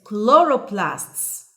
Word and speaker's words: chloroplasts: chloroplasts chloroplasts chloroplasts okay be careful it's chloroplasts microscope microscope microscope great